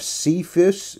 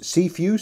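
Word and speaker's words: Cepheus: have Draco moving on we have cephas seafuse sorry then Cassiopeia and then finally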